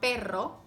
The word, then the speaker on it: perro: about a strong R it's important to get both sounds correctly because there're words that mean different things whether you pronounce it with ere or erre like pero meaning but and perro meaning dog caro which is expensive and carro which is a car right so it's important